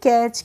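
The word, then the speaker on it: catch: सी eighty C एच तो इसको पढ़ते हैं कैच क्या पढ़ते हैं कैच पढ़ते हैं यहां पे भी हम टी का प्रोनाउंस एशन नहीं अब है हमारा फ्रेंड्स यू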